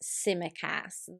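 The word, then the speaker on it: Tsimikas: name on everyone's lips at the moment is simmer cass well well said well well pronounced thank you literally i did a live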